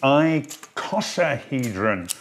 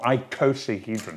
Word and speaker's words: icosahedron: And last but not least is my favourite, which is called the icosahedron, or icosahedron, depends how you pronounce it.